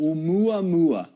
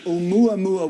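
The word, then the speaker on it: ʻOumuamua: don't know how it's pronounced. Oumuamua. Oh, really? Yes. Actually, I'll take it back. Oumuamua, which loosely means a messenger that reaches out from the distant past.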